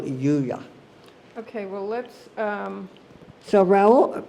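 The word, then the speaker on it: Juliá: Well, he just said Julia because none of us could say Yuya. Oh. But it was Raoul Yuya.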